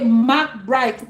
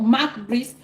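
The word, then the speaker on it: Marc Brys: In English, you would hear people say Marc Bright, but in Cameroon, it is called Marc Brice because it is easier that way.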